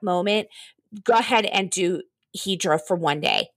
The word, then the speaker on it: Hydra: Greek island to you is called hedra it's spelled Hydra in American it's called hedra there are no Cars